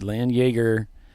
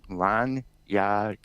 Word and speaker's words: Landjäger: by AutoZone it's the Lan Jagger cup at Road America and by the way it's pronounced Lan yar larar okay yeah Yer